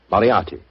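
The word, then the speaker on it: Moriarty: I'm afraid I'll have to begin calling it the way it looks. M O R I A R T Y. Moriati.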